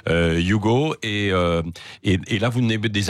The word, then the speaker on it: Hugo: Ça s'écrit Hugo et ça se dit en fait Hugo.